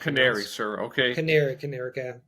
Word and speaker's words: Canary: Canary. Stress on the second syllable.